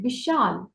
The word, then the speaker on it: विशाल: इसलिए जब मैं ' विशाल' पढ़ता हूँ, तो मैं कुछ समय के लिए 'i' का उच्चारण 'v' की तरह करूँगा, विशाल। ठीक है? याद रखें, आपको इसे थोड़े समय के लिए ही कहना है।